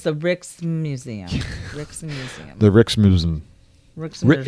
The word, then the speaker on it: Rijksmuseum: Rijksmuseum. It's Rijksmuseum. Yeah, is it Rick's Museum? Yeah, okay. It's just Rick. It's Rick's museum.